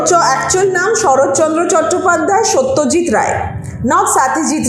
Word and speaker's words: সত্যজিৎ রায়: যেমন বাংলাতে সত্যজিৎ রায় বলা হয়, যখন এটাই আবার ব্রিটিশটা প্রোনাউন্স করে তখন বলে স্টেজিৎ রায়।